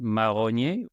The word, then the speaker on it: Marronier: And if our listeners want to learn a little bit of French, so my name in French is pronounced Marronier. It's spelled the exact same way as the tree, even though the spelling throughout time.